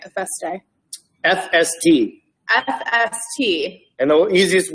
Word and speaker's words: FST: FST.